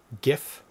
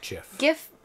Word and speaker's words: GIF: sense uh and pgraphics pronounce it with a hard G GIF GIF not GIF GI H interesting uh